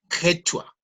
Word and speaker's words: quechua: Se pronuncian ellos también, es como un poco más gutular, quechua.